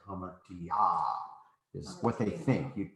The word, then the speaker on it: hamartia: Hamartia. I'm just trying to really emphasize that there's this accent as you get out here. No, you're saying it wrong. Oh, because I'm putting the accent on the alpha.